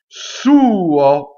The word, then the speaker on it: suo: Il, I-L, suo. So all of the possessive pronouns usually have the accent on the first vowel.